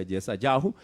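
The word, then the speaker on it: ישעיהו: Ok, si el nombre de Isaías incluye el nombre de Dios y en hebreo, que es las 4 letras, y en hebreo se pronuncia Yesayahu, entonces el nombre de Dios tiene que ser algo muy parecido a Yahu.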